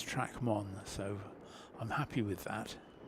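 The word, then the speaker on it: Trac Môn: sure and I uh I asked a local lady who said yes you are it is track one so I'm happy with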